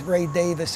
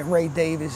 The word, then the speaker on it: Davies: and ray davies and i say his name both ways ray davis is the english way ray davis is an american way but uh so you